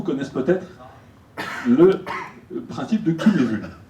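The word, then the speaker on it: Cynefin: Alors, certains d'entre vous connaissent peut-être le principe de Cunevun. Cunevun parce que, évidemment, c'est un Gallois qui l'a fait et ça ne se prononce pas comme tout le monde.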